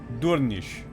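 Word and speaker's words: Durnisc: Durnisk is pronounced Durnish, since the final SC cluster sounds like an S sound, like a sh sound.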